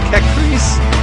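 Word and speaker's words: Kechries: Kekris in the Eastern Peloponnese. That much I can pronounce.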